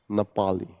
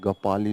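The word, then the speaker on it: Ngapali: क्याकफ्यू, नेपाली, नेपाली है या गपाली है? एन साइलेंट है, गपाली इसको पढ़ेंगे।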